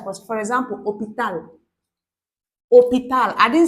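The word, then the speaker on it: hôpital: also has to take L but for example opal I didn't say you see I'm not pronouncing this your known H I said oh I'm starting from this voice this is second op Sorry minute.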